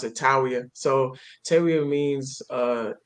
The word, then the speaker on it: Tawiah: yeah, so it's actually pronounced TAWIAH, but we pronounce it TAWIAH.